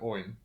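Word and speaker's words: Óin: Owen and glowing are pronounced o in and glow in with two syllables they're not pronounced a rhyme with coin okay so while I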